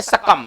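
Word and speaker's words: succumb: चलिए आते सकम, इसमें बी साइलेंट होगा ना, बी को नहीं पढ़ेंगे, थोड़ा ध्यान दिया जाए। बी का उच्चारण नहीं करेंगे, सकम इसको पढ़ेंगे।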